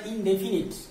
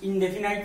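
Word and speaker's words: indefinite: উচ্চারণটা ইনডেফিনিট, ইনডেফিনাইট নয়, ইনডেফিনিট।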